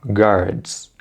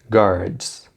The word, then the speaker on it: guards: E na palavra guards, o U não é pronunciado, né? Portanto, guards, guards.